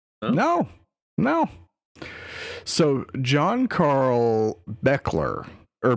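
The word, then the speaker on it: Buechler: no so John Carl Beckler or beakler sorry it's it's spelled very not how it's pronounced but it is pronounced beakler and you will know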